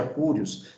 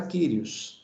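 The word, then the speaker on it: κύριος: Então, seja Curios, seja Kyrios, não tem problema, tá? Então, se você tem um pouquinho mais de noção, leia a palavra da forma correta, Kyrios, tá?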